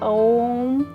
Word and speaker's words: ओम: ओम और आखिरी ध्वनि होती है म। मां से हम इसको खत्म करते हैं जो सबसे लंबा निकाला जाता है जिसमें हमारे लिप्स